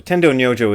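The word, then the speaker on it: 天童如浄: Tendo Nyojo is how they pronounce it in Japanese, and that's the way I learned the guy's name.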